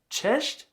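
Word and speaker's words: cześć: It's just ch or chesh.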